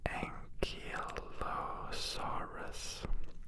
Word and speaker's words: Ankylosaurus: Ankylosaurus.